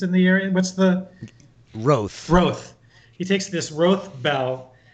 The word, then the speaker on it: Rothe: Is that how it's pronounced, Rich? The beasts of burden that are raised in the area. What's the Roth?